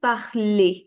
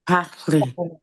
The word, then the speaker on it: parler: There is no r sound in the end.